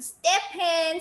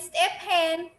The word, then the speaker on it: Stephen: I used to read it S-T-E-P, step, H-E-N, hen. Step hen is Stephen.